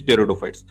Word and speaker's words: pteridophytes: Okay, P is silent here, and the pronunciation is pteridophytes.